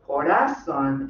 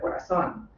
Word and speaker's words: corazón: that in other translators, we hear sung in the theater corazón instead of corazón.